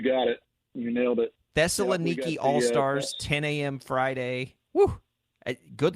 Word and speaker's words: Thessaloniki: again Thessaloniki you got it you nailed it Thessaloniki All-Stars 10 a.m Friday good luck with the pronounced pronouncers over there so we've got uh